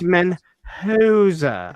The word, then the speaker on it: Menjoza: Menjoza. We say it right over here. We say it how he wants it over here. It's Menjoza.